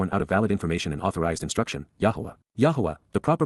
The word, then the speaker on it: Yahweh: Yahweh. Yahweh. The proper pronunciation of the name of Hiloah, God, as directed in his Torah.